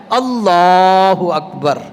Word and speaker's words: اللہ اکبر: کہتے ہیں اللہ اکبر، یار یہ بار تھوڑی ہے، بے کو لمبا نہیں کرنا، اللہ الف کو بھی نہیں لمبا کرنا، لام کو لمبا کرنا ہے، اللہ اکبر، یہ تلفظ صحیح ہونا چاہیے۔ اگر کسی مقتدی کو